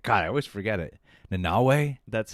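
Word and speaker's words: Nanaue: How do you pronounce that? Nanawe? Nanawe. God, I always forget it. Nanawe?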